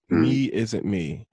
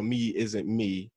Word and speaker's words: MeIsntMe: And it's spelled like one word. So it's MeIsntMe. I think that's how you pronounce it. I'm not 100% sure, but that's how it reads.